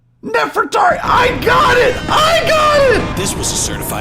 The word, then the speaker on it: Nefertari: How do you pronounce um let's see pronunciation. Pronuniation. Nefertari. Nefertari.